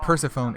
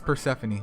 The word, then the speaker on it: Persephone: water Persephone I mean I keep saying it wrong it's not Persephone it's Persephone my bad dude my bad